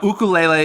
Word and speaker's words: ukulele: though right yeah it is weird but no ukulele is the proper way to say and they